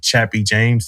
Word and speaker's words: Chappie: Well, me being stationed on JBAB Air Force Base it was very important to me that we talked about General Chappie James.